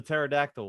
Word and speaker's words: pterodactyl: The pterodactyl one. Oh yeah, that was bad. P is silent.